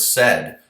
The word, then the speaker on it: said: Think, for example, the word said, right? If you tried to read that phonetically, s-a-id, it wouldn't come out right.